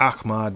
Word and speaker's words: Ahmaud: I'm saying it Ahmad because I believe that's the correct way of pronouncing that brother's name, because the AH has an Ach to it.